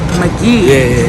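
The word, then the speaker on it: Magee: back Jordan and let me make sure I'm pronouncing your last name correctly McGee McGee everybody everybody say it wrong everybody spell it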